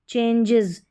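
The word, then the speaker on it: changes: जी ई रहेगा, जी ई रहेगा तो यहाँ पर भी जो है ई एस के लिए जो है इज साउंड निकल कर आएगा, जैसे गैराजेस, चेंजेस, एजेस, जजेस, इस तरीके से यहाँ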